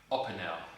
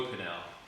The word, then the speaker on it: Opinel: My first ever Opinel, or Opinel, however you want to pronounce it. I'm going to call it Opinel, because that's what I want to say.